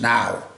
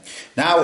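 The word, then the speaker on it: naw: This looks like nor to a um a sort of English uh mind, but it's pronounced now. Okay. Now is the time to learn how to say number nine.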